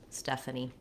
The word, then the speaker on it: Stephanie: stuff uh knee with first syllable stress stephanie and a nickname for